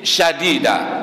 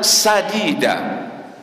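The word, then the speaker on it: سديدا: salah dalam ayat ya yang pertama dibaca dengan syin syadida seolah-olah fasahah yang kedua dibaca qulan sadida antara Sin dengan syin maksud ayat di sana adalah sadida dengan Sin tapi dibaca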